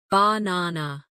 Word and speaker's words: banana: For example, in the word banana, the stress is on the second syllable, banana.